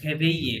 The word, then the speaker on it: réveiller: So, ভাইয়া একটু উচ্চারণটা করে আচ্ছা দিবেন ভার্বটার উচ্চারণ হচ্ছে réveiller ডাবল এস সাইলেন্ট হ্যাঁ Réveiller.